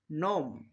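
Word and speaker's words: gnome: দেখা যাক ট ন নোম নস্টিক প্রত্যেকটা উদাহরণের মধ্যে এবার আমরা শব্দের শুরুতে জি এন খুঁজে পাচ্ছি। তাই এখানে আমরা জি এর উচ্চারণ করবো না। জি কে সাইলেন্ট রাখবো। তো আশা করি এই নিয়মটা সবারই মাথায় থাকবে।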